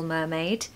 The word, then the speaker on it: mermaid: Pronunciation tip, stress the first syllable. Mermaid. Mermaid. And because the syllable is stressed, we don't need a schwa. We're just going to have a really strong sound, no R, okay?